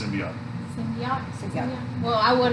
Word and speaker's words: symbiote: Symbiote. Symbiote. Not symbiote.